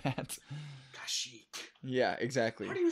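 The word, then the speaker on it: Kashyyyk: the spelling of planets and stuff like that kashik yeah exactly do spell it's got three y's three y's in a row so K so cash Cas kashik yeah yeah k y y y k okay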